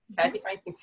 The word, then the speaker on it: Kathy Feinstein: Is that how you pronounce it? Is that correct? Yeah. Kathy Feinstein.